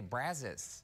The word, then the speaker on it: Brazos: but I so spend I didn't realize that in Texas we say Brazos Brazos Brazos Bend yeah